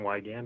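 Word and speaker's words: Wiegand: Hi, my name is Wygand.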